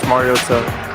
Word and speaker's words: Mariota: Marcus Mariosa, Oregon. He does the TA thing. Yeah. That Collinssworth was doing.